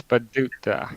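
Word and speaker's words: Paducah: I I can't pronounce this. What's this town called? It's Paduka. Paduka.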